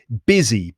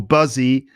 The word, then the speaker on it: busy: pronunciation of the word busy busy busy busy like business business busy so it's not busy or buzzy despite the u it's actually busy it sounds like it's got an i in it now if you say